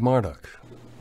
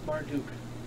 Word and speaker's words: Marduk: The design reminds me of the days of Marduk. Actually, it's Marduk. Marduk? Put a knee at the end, get it. Like, without the ma? Marmaduke? Marduk.